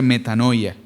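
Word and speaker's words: μετάνοια: La palabra en griego se eh se se pronuncia metanoia.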